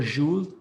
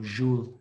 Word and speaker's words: joule: Joule or joule, but because the inventor was a French, so joule is the correct pronunciation, but joule is okay.